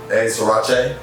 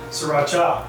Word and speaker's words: Sriracha: - There's an A at the end. - Srirach-ey? - Sriracha.